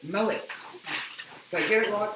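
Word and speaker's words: Moët: it yeah and uh we were told to stop saying it wrong because it's not moment chandon or moae or maui maui it's mullet so here a lot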